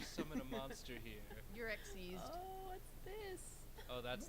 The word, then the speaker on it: Xyz: like it's xyz summoning but it's but it's pronounced exes yeah no yes no i remember when i